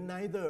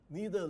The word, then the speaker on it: neither: left คำว่า no นี่มันเป็นปฏิเสธซึ่งเราอาจจะเขียนอีกอย่างว่า neither หรือ neither ออกเสียงได้สองอย่าง neither หรือ neitherWas there any sugar?